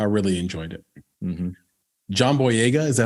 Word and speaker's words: Boyega: John Boyega, is that how you say his name?